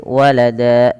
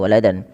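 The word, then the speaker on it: وَلَدًا: Mad thii maka Wada cara membacanya menjadi Walada bukan lagi waladan maka apabila kita mendapati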